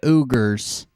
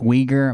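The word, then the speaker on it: Uyghur: He says that he says that the Chinese have uggers. He doesn't he doesn't understand that that that word that starts like the Y is pronounced weaguer Muslims.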